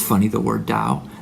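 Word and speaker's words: Tao: it's funny the word Dao they spell it t with a t but is pronounced with a D look it up that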